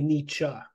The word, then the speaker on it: Nietzsche: No, that's just Well, that's funny because the the German pronunciation, any word that has an e at the end is an uh.